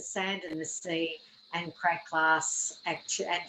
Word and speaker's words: Krae Glas: So it's the sand and the sea, and Krae Glas, actually, and you do pronounce the S at the end of it.